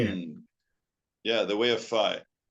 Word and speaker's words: Phi: pronounciation could be P or um f but fi is typical the English pronunciation and I really like this symbol it